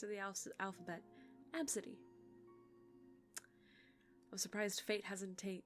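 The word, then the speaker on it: Abcde: did you know that there's a name called absidy AB City absidy is spelled a b c d e absolutely gotta be kidding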